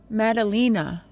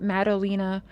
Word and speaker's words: Madalina: Madalina, I believe is how you pronounce it, right? Madalina Cojocari. Madalina Cojocari. Yeah, I think that's right. Forgive me if I'm butchering it, but I believe that's right, because I remember specifically listening to how people were pronouncing her name.